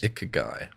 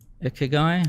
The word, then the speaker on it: Ikigai: Another thing I've heard people mention quite a bit is this I Kigi. I don't even know how to say it. Ikigai. Ikigai.